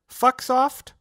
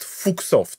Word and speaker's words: Fuxoft: Do you prefer Sir Fucksoft or Mr. Fucksoft. Now, you've done the classic mistake. It's pronounced Fuchsoft. Fuchsoft.